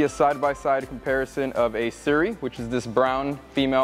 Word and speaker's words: Suri: also exists and that is the alpaca that is spelled s-u-r-i Siri alpaca Suri alpacas as you can see are